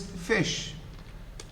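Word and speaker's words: ghoti: one of them unfortunately how would you pronounce this shahi g-h-o-t-i um yes perhaps i don't know roti this is fish fish yeah it's pronounced as fish don't look at me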